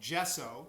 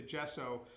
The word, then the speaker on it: gesso: with a special base coat of paint called gesso that's spelled g-e-s-s-o gesso is a special kind of